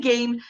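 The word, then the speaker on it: G'AIM'E: Those are the other games. What did you see? Okay. I saw Game, which is spelled G apostrophe AIM apostrophe E.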